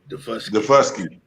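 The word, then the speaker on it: Daufuskie: Defusky.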